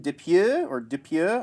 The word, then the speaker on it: Dupieux: We got the teaser for Rubber, which was written and directed by French filmmaker Quentin Dupieux, I think is how you pronounce it.